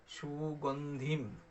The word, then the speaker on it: সুগন্ধিম: সুগন্ধিম, ওই যে অনুস্বার আছে ওই জায়গায় ম হসন্ত হবে, তাহলে উচ্চারণটা হবে সুগন্ধিম পুষ্টিবর্ধনম উর্বারুকম ইব বন্ধনান মৃত্যুর্মোক্ষিয় মামৃতাৎ।